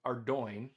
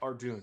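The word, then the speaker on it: Ardougne: or Ardo and not Ardun because it is spelled Ardun and it makes no sense that it would ever be pronounced Ardo unless you know that it's like a suburb of Belfast and Irish people pronounce their words very weirdly.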